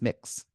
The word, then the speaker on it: Mx: identify with either Mr or Miz and it's pronounced mix but unless you want to go through the